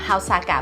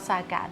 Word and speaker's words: Saga: And I showed them the map, showed them how Saga was pronounced, and the people at the train station was like, "This is not Saga. This is Saga."